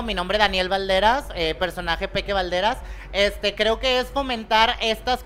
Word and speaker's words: Peke Balderas: Excelente, casi para finalizar, ¿cómo se pronuncia tu nombre? Peque Valderas.